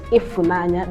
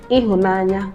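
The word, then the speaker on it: Ịhụnanya: The very popular one is Ifunanya, that's the dialect of it. But the standard Igbo is Ihunanya. Whether you say Ihunanya or Ifunanya, the E sound there means love.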